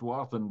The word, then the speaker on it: Wathen: Yeah, it'll be pronounced Wathen, but it was Worthen if you know. Oh, really? Pronounce every letter in the name right.